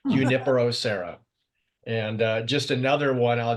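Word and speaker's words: Junípero: For your information, Junipero the J is completely silent, Okay. so it's Junipero.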